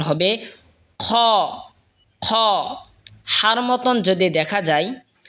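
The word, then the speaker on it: خ: হলকের শেষভাগ হয়তো উচ্চারণ হবে খ।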